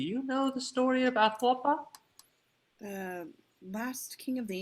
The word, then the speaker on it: Atahualpa: Atahualpa.